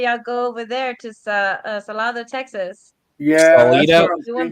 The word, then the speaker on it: Salado: Wait a minute, I did spell that right. What the hell are y'all talking about? No, it's SALADO.